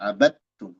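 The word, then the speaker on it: عَبَدْتُمْ: idgham ke ta jadi bacanya dari ba langsung ke ta abadum dal hilang sama sekali namanya idgam mutajanisain shir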